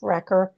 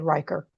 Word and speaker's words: Recker: I asked Chef Recker how to pronounce his name, and he said Recker, and then I said Riker the whole time.